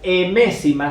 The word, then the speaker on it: m-ésima: La primera de las propiedades tenemos que la raíz emésima, esto es una m, la raíz emésima se lee así, emésima, se escribe m-ésima, con S y acento en la E, ¿sí?